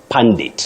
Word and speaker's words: pundit: But for this word you've asked about, it's pundit.